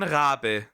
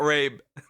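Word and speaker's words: Rabe: It's John Rab. It's Rab, not rape.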